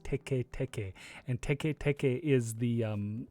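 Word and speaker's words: テケテケ: it'd be it's that yeah so it's not tiki tiki it's actually pronounced teke teke and te ke teke is the um the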